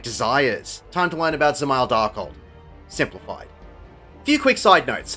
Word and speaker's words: Dzemael Darkhold: Well, look no further than Dzemael Darkhold. Yes, the first D is silent, and it can be